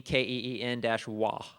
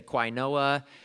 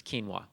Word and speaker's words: quinoa: favorite and I put in there how to pronounce it Keen keen-wah Keen W cuz it's a weird word and people say quoa and all kinds of things and not that